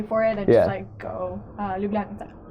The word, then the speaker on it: Ljubljanica: They have these little boats where you can just pay for it and just go ljubljanica.